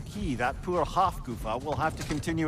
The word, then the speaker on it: Hafgufa: Another Hafgufa. Hafkafa, I was saying it wrong.